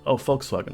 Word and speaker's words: Volkswagen: German V is pronounced F. The F-Wagen Hall. Volkswagen Hall, yes.